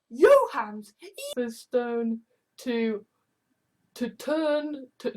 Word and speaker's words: Jahans: trolls have a look my name can be pronounced as your hands Stone to to turn